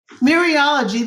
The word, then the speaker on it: mereology: Mereology, is that how you pronounce that? Mereology, that's again the whole parts whole.